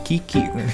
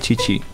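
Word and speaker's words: Qiqi: Orang Indonesia baca Q-I-Q-I, bacanya Kiki. Tapi kalau di Genshin dia dibacanya Cici.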